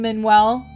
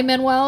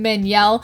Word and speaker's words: Manuel: I promise you guys I know how to say his name I know it's not L manelle every time I was